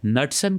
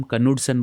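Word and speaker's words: Knudson: सो, एक नटसन करके एक साइंटिस्ट है। उसको हम कनुडसन बोलते हैं। बिकॉज़ उसका स्पेलिंग वैसे ही होता है।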